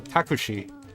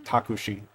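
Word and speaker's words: タクシー: Like, uh, takushi is how you say taxi, and it's just split into syllables. It's takushi. Nice.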